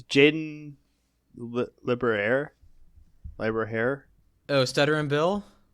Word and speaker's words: Lieberher: It's Jaden Liberaire? Oh, Stuttering Bill? Lieberher.